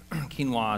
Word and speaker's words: quinoa: Quinoa is a wonderful grain. Looks like it should be pronounced quinoa, but it's nonetheless pronounced quinoa,